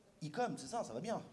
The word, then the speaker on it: Ecom 33: Alors, juste quand même précision, on dit Ecom, c'est ça, ça va bien. Ecom.